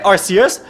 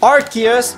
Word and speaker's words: Arceus: Vous savez, Arceus, il y a deux prononciations acceptées. Arceus ou Arceus. À ce qui est vrai, Arceus, c'était la première prononciation que tout le monde utilisait. Mais Arceus, ça ressemble trop à un mot vulgaire. Alors les gens commencent à dire Arceus.